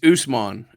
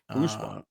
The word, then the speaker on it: Usman: It's Usman is the pronunciation of his first name. Usman.